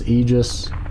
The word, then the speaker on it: Aegis: the designated password today the word is Aegis and I pronounce it a he just I've seen people call it Aegis Aegis dr.